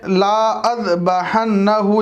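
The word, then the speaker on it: لَأَاذْبَحَنَّهُ: Last जुमला देख लें, ला अज़बहन्नहु लिखा हुआ है, यानी लाम के बाद अलिफ है, ला है, लेकिन ला नहीं पढ़ेंगे, लाम के बाद का अलिफ साइलेंट होगा, लअज़बहन्नहु, लअज़बहन्नहु इस तरह पढ़ेंगे।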